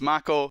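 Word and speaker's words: mako: chocobos that upsets me we always call it make oh now it's mac oh I'm not okay with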